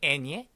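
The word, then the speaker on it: eñe: N 위에 요 물결 있는 요 녀석 발음 혹시 알고 계시나요? 그렇습니다. 이 N 위에 물결 있는 녀석을 애니에라고 부르거든요. 애니에.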